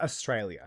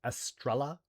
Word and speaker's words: Estrella: So it's not Australia. Her name is not Australia. It's Estrella. Estrella, Estrella. Estrella. Australia. It's it's like star, so Estrella.